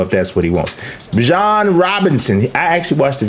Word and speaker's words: Bijan: Bijan Robinson, I actually watched the video, 1,456 yards. He was telling people how to pronounce his name.